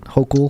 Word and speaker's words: Hochul: This is New York Governor Kathy Hochul. Is that how you say it? Hochul? Uh-huh.